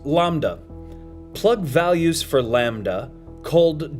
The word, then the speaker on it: lambda: This acceleration appears to be driven by the repulsive energy of space itself, so-called dark energy, which is represented by the Greek letter L, pronounced lambda.